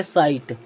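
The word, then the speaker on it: sight: प्रकार एस आई जी एच टी इसे पढ़ेंगे साइट साइट मीस होता है दृश्य एफ आई जी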